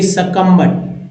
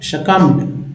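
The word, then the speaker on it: succumbed: अब देखिए सकम्बड। शकम्ड। शकम्ड मीन्स होता है, शकम्ड मीन्स होता है परास्त, पराजित, दबा हुआ।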